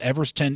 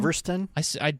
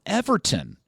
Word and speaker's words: Everton: Everton is hosting Sunderland. I think, Did you call him Everston? I mispronounced it. I don't mind you mispronouncing. Look, team. there's a scenario where Everton could even squeeze their